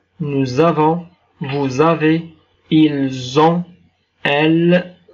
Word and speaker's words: nous avons: Nous avons. En finalisant يعني le S أو حرف ال S هنا ينطق مع الحرف A ينطق بحرف Z.